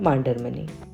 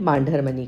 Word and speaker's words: Mandarmani: किसी भी जगह का नाम प्रॉपर नाउन होता है। तो उसे आप कुछ तो भी तरीके से नहीं प्रोनाउंस कर सकते। अब मांडरमनी में बहुत बड़ा कंफ्यूजन है क्योंकि सबसे पहले इसे मुंदार मनी कहा जाता था।